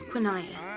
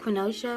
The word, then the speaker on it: Quinaya: My name is Quinaya, not Quinosha or Quintita or whatever you're trying to say.